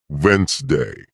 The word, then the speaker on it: Wednesday: For example, you might see the word Wednesday and think it's pronounced exactly as it's spelled, but listening teaches you it's actually pronounced Wednesday.